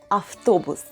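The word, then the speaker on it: автобус: subway in russian it's aftobus in this case letter v is pronounced as f some people need to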